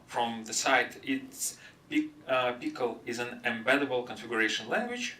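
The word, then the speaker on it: Pkl: of all Apple pickle it's pronounced like pickle and it's built by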